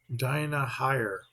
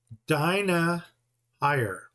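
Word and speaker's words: Dynaheir: Now, Dinah here, she can throw Dinah higher. Daenerys. I'm still trying to figure out the pronunciation of this. In Europe, EI is with a long I. It's pronounced I. Dinah higher. Dinah higher.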